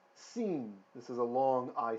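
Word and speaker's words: שׂ: that's fine okay we don't have to have pronunciation perfect over time it will improve okay the next letter is seen not sin seen this is a long I sound seen okay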